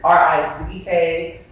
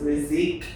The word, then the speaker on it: Rizk: my last name, Rizk, R-I-Z-K. It's really supposed to be pronounced Rizk, but nobody pronounces it that way. And my whole life, I've been Rizk. So it is perfectly fine, yes.